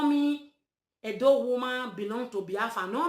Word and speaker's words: Edo: That word Edo, the real pronunciation is Ado, the bastardized, the cowardized generation, which is Oba of Benin.